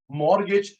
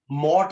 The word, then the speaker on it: mortgage: मॉर्गेज T silent होता है, मॉर्ट नहीं बोलते, मॉर्ट नहीं, मॉर्गेज, टी साइलेंट है।